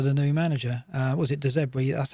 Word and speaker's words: De Zerbi: Was it De Zerbi? That's how you pronounce it. Is that how you pronounce it? De Zerbi. De Zerbi. Not De Zebra. Not De Zebedee.